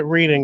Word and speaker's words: Reading: same with Reading. If you pronounce it Reading, they'll be like, no, it's Reading.